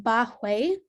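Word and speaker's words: Bai Hui: general so the first on the list is pronounced bahuey and it's located at the lumbo sacral joint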